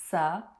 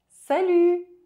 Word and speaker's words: salut: To say hi, you can use salut. Salut. Salut. Pay attention to the pronunciation of the letter U. It's U and not U. Likewise, the final T is silent.